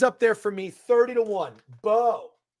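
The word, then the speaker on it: Beau: Bo. That's spelled B-E-A-U, by the way.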